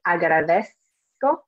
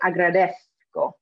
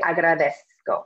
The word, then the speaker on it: agradezco: likely I'm gonna say agradezco. But if I'm from Spain, I'd say agradezco. Okay, so it's a different pronunciation. Me, I say agradezco with the S sound, okay?